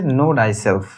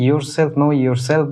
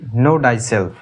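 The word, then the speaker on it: Know thyself: Socrates বলছে নো ডাইসেলফ। অনেকে এটাকে ইউরসেলফ নো ইউরসেলফ বলে উচ্চারণ করেন। কিন্তু আসলে এর উচ্চারণটা হবে নো ডাইসেলফ।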